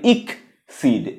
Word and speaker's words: exceed: ডি সিড আর দ্বিতীয় এক্সিডটা আই কে মানে ইক সিড ইকড এবার মিনিং কি দুইটারই মিনিং কি এই